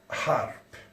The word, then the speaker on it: HAARP: parler avec vous sur harpe. H ou H, comme on écrit en français, on le prononce A, on ne le prononce pas H, H.